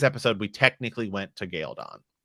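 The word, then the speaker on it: Cairhien: It's obvious there's computer graphics over it and all this stuff, but technically we're in Galeon, or as I still call it, because it's how it's pronounced in the books, Galeon.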